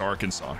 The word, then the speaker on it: Arkansas: that i know okay so he's pronouncing arkansas well that's really you just know how to pronounce it it's just arkansas jerry all righty kids